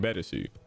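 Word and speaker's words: ベレス: and one more thing mill violet and fimo violet have slightly different names in japanese milbileth being better and femobileth being betesu they even wrote their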